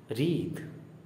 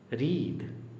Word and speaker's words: wreathe: WREATHE second last word जो है, इसका प्रोनाउंसिएशन है रीद, रीद। जैसे BREATHE, ब्रीथ, सांस लेना, ब्रीथ, ओके। और WRITHE लास्ट वर्ड, इसका प्रोनाउंसिएशन है राइद, राइद, ओके।